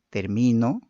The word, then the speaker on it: termino: El acento es un rasgo diferenciador de palabras que según la sílaba donde se sitúe origina cambios significativos a las palabras. Gracias a la presencia del acento en una u otra sílaba, producimos palabras con significados y funciones distintas.